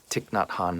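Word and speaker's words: Thich Nhat Hanh: by this this monk tick not Han I believe is how you say his name I'm not an expert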